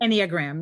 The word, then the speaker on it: Enneagram: I actually did a free test on the Am I saying it right? Any a gram? Enneagram, yes.